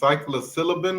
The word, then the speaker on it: psilocybin: I don't know how you pronounce that though. Yeah, it's psilocybin.